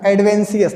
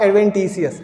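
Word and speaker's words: adventitious: Bird बोल दिया मैंने भी गलती से, सॉरी बेटा, एडवेंशियस नॉट एडवेंटिशियस, एडवेंशियस bird.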